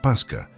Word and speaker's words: pascha: deriva del latín eclesiástico pascha se pronuncia pasca que a su vez